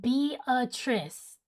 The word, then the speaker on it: Beatrice: It's pronounced Beatrice.